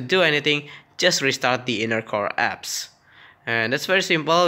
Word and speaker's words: Innercore: Alright, that's how it's pronounced. Innercore.